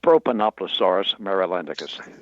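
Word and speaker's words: Propanoplosaurus marylandicus: And the pronunciation of your dinosaur, did I get that even close? Not quite. It's Propanoploaurus marylandicus.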